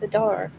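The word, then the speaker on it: Seder: Sedar, which I still feel like I'm saying wrong. I don't know. You're not You are saying it right. It's Sedar.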